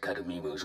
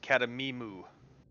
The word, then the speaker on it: Cademimu: I guess it's pronounced Cademimu. Like a cow.